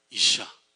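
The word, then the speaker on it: אִשָּׁה: 그 다음에 여자라고 부르는 것은 뭐냐면 이샤라고 읽어요. 이샤.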